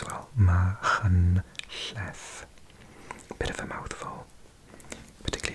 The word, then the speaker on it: Machynlleth: So it's got the ch sound, the ll sound, and if you're a non-native British speaker, th sound as well. Machynlleth.